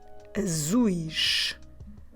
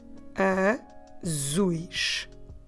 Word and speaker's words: azuis: about the eyes, we need to change into azuis. Azuis. I will spell it A-Z-U-I-S.